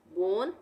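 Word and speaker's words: bone: रो उसी तरह से बी ओ एन ई बोन यहां पर ओ के बाद क्या आ रहा है एक कंसोनेंट और कंसोनेंट को छोड़ने के बाद क्या आ रहा है कंसोनेंट छोड़कर एक ई आ रहा है तो यहां पर भी हम इसको पढ़ेंगे बोन उसी तरह से रोज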